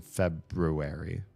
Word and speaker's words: February: It's BR and BR in the second syllable, but I hear so many people drop the R the first R in February.